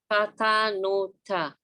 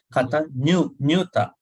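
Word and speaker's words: kataññutā: Katanuta. So these letters are pronounced a little differently. Kata nyuta.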